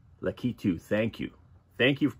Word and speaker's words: Lakitu: I had the K and the T screwed up. I was calling it Latiku, but it's Lakitu.